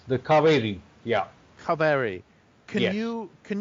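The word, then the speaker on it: Cauvery: you one of the rivers that you love is spelled CA u v r y yes it's the cavi yeah Cav can you can you talk a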